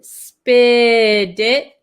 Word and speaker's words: spit it: spit it out um for pronunciation uh we have this T here and it's um sandwiched between these two eyes so this te is going to turn into like a D sound spit it and then this T